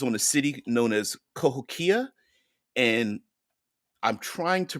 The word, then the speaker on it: Cahokia: a city known as kahokia and I'm trying to pronounce it without it could be Cahokia but I believe there's no emphasis on any particular syllable so I believe it's pronounced kahokia there's a pronunciation guide